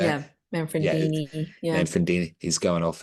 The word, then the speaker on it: Manfredini: Manfredi? How do you say it? yeah, Yeah, Manfredini.